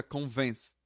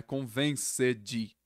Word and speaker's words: convinced: Esse D aqui no final, ele corta, ele não pronuncia. Aí fica convinced. Convinced. Não é convenced. Convinced. E para aqui no D.